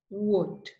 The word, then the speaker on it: would: salmon have walk talk would okay so remember these are silent L words you don't pronounce the letter L like this we have other